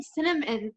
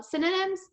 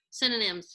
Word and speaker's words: synonyms: maybe we're on these puns today i've googled cinnamon like how do you say that word michelle synonyms synonyms yes i googled them today and i was